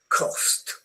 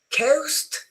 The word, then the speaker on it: cost: Low cost. Coast is when you go to the seaside and cost is the price of something.